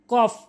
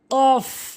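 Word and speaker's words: قاف: পেট ফা ফা এভাবে এরপরে কফ ভুল উচ্চারণ কফ ভুল উচ্চারণ কফ সঠিক উচ্চারণ কফ সঠিক উচ্চারণ জিহ্বার গোড়া উপরের তালুর সঙ্গে কফ এরপরে কাফ ভুল উচ্চারণ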